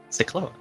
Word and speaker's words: Syklos: Syklos. I pronounced that right this time, right?